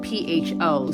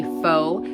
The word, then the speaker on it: pho: Now, pho is spelled P-H-O. So normally people want to say pho, but it's pronounced pho.